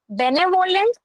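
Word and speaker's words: benevolent: Second question is choose the synonym of बेनेवोलेंट या बेनवलेंट। किसी भी तरीके से प्रोनाउंस कर सकते हैं।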